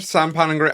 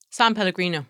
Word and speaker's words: San Pellegrino: San Pellegrino. I'm an 8th Italian, so I should know how to say it. San Pellegrino.